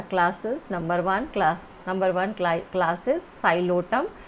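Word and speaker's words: Psilotum: Number one class is Xylotum. Here P is silent, and the example of this Xylotum, one species is Xylopsida and the species is Xylotum.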